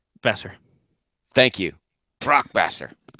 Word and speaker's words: Boeser: Brock Boeser. Besser. Thank you. Brock Besser. Yeah, the O and E is the O is silent. The O is silent. It is Brock Besser.